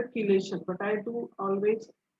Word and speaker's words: chelation: Third is chelation. Some people pronounce it as a chelation, but I do always pronounce it as a chelation.